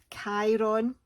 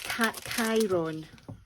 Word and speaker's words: Chiron: in Greek mythology, and he's Chiron, I think it's pronounced, and yeah, he's the son of a Titan and something else.